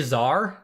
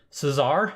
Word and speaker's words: Cesar: Did I just say Czar? Did you not pronounce the S? Cesar?